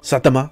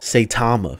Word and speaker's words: Saitama: Satama, is that how you say his name? I don't know. That sounded pretty cool, so I feel like that was correct. Or Saitama? Saitama. You want me to say it like that? You want me to say it like a white person?